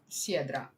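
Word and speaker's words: Syedra: Okay, so it's just Siedra. Okay. Then I can say it as an S.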